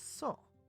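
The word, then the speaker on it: そ: You pronounce this as so. Like the word so. Like, so I'm going to go ahead and do this. Or, how could you be so rude? It's the same. So.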